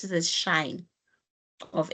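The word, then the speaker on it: sinh: Some people call it shine. Some people call it cinch. Pronounce it. Okay. In this work they they pronounce it as shine of x.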